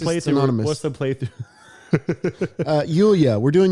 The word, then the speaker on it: Yulya: Yulya. We're doing Yulya now. And Are you one sure of that's the how you say it? Yulya, yeah. All right. Yulya is her name.